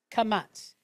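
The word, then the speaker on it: qamats: And that's kamats. Q-A-M-A-T-S. Some people will spell it T-Z.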